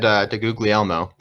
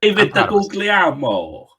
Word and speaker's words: DeGuglielmo: Yeah, we had DeGuglielmo. Can't believe I pronounced that correctly the first time. Proud of myself. Name. Wait, that was actually how you pronounce his name? Yeah. Yeah, it was. David DeGuglielmo.